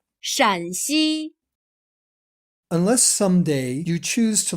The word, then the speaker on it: 陕西: There is a very subtle difference in the tone of the first syllable. Here 山 has a high level tone. 山西 Here 陕 has a lower, falling tone. 陕西 Unless someday you choose